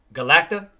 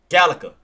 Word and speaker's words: Galaga: Goddamn, why I can't pronounce the word? Galacta? No. Galaga.